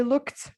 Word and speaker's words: looked: Okay, this last time I saw Ralph, he looked overweight. He looked overweight. Okay, we add the ed to it to become a t sound because look ends in a k sound.